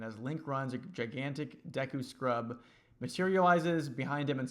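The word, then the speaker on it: Deku: sorry deu scrubs sorry I say Dooku when I was a kid that's how me and my brothers pronounced it despite it like that's just Notre correct pronunciation we were just kind of dumb and I was just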